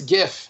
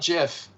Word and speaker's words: GIF: the heart it is a hard g it's not soft g so yeah it's uh it's like that it's not it's it's gif not jiff sorry i'm a design